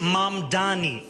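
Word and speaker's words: Mamdani: The name is M Donnie.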